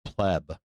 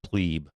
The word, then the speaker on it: pleb: As a matter of fact, uh, pleb is pronounced pleb, not plebbe.